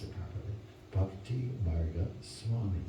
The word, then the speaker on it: Bhaktimarga Swami: And his name is, let's see if I can pronounce it properly, Bhaktimarga Swami.